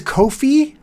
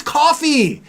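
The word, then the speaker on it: Ko-fi: I always thought that was Kofi, Kofi. And then someone said it's like, "Buy me a coffee." Oh, I said, "Oh, it's coffee."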